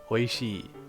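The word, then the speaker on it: おいしい: Okay, so oishii means delicious, and please note that the shi, so we have oishii, right? Oishii, but there's an extra e here, and that's because the sound should elongate. Oishii, slightly longer.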